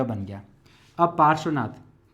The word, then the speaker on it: पार्श्वनाथ: अब यहां ध्यान रखना है, ये रेफ है ना, पार, रेफ लग रहा है यहाँ, लेकिन इसका उच्चारण कहाँ करना है आपको, यहाँ पर, इसलिए र यहाँ लग जाएगा।